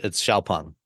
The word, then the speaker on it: Xpeng: It's spelled Xpeng, but it's Xpeng.